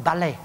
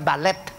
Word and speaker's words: balet: Coba lihat orang balai. Bukan balet, bacanya balai.